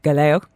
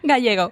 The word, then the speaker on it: Gallego: Delighted to welcome to the studio Gallego. No, I didn't say it right. Gallego.